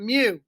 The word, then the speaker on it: mu: greek letter mu pronounced mu like when a cat says miu mu you know not meow meow but mu an x bar is